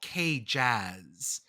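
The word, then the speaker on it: KJZZ: way the one uh the V1 in Phoenix is called K jazz but the one in Salt Lake City does not seem to have a pronunciation so it is cages we also have Idaho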